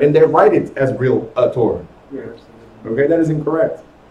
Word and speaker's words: realtor: and still call themselves realtors. There's no A. There's no relation. There's no relators or anything like that. It's realtor, not realtor. Yes. And they write it as realtor.